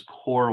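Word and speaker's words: KöR: the most predictable is core whitening is spelled k-o-k-o-r and it it is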